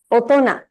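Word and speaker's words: 大人: special words like this we pronounce it asona Otona that sound doesn't come from either of this Ki it's very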